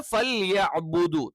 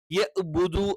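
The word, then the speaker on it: فَلْيَعْبُدُوا: എന്ത് ചെയ്യില്ല ശരിയാവില്ല അപ്പൊ ഇവിടെ ഫൽബുദു തൊണ്ടയുടെ മധ്യഭാഗത്തുനിന്ന് വരേണ്ട ഐനാണ് അപ്പൊ യഹ്ബുദു എന്ന് പറ്റില്ല അതേപോലെതന്നെ യഹ്ബുദു എന്നും പറ്റില്ല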